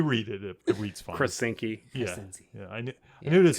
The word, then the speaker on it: Krasinski: John Krasinski. Krasinski. Yeah, I always want to add a syllable to his name.